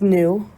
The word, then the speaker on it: nu: meters per second and nu looks like a v but it's pronounced new like nu it's a greek letter is your frequency which